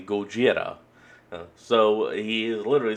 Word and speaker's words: Gojira: Well, reason why I'm pointing that out is because as Godzilla's original name pronounced in the Japanese is actually Gojira.